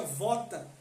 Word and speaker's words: vota: partir do latim que no latim se pronuncia vota que significa promessa então